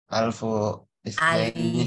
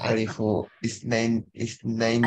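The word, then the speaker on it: ألف الاثنين: Alfu isnaini. Alifu, jangan alfu. Alfu 1000 dong. Iya. Alifu isnaini.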